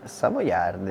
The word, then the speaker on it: Savoiardi: Savoiardi.